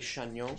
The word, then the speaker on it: Chagnon: Well, if you're going to pronounce it the fancy French way, it would be Chagnon. Chagnon. I was going to say that, too. We pronounce it Chagnon for Chagnon, generations.